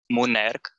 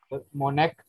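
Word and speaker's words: monarch: मोनेक। जी, मोनेक। मोनक। चलिए देखते हैं। इसकी प्रोनाउंसिएशन भी मैं लिख देता हूँ। मोनक, ये ऊपर होता है स्ट्रेस मार्क।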